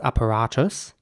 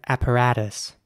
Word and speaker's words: apparatus: word is spelled a-w-p-a-r-a-t-u-s and in British English it would be pronounced apparatus apparatus and an American English it would be more like apparatus here's an example of